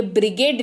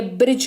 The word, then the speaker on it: bridge: हमारे पास है डी, तो डी का उच्चारण नहीं होगा, इसी वजह से ये ब्रिगेड नहीं, ये ब्रिज कहलाता है।